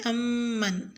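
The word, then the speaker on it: أمّن: آیت نمبر 21 میں لفظ امن میں میم مشدد پر غنہ کریں، یعنی امن۔ لفظ ھذا الذی میں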